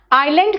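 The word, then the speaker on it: island: आइलैंड कहते हैं बेटा, एस वहां साइलेंट है, ठीक है।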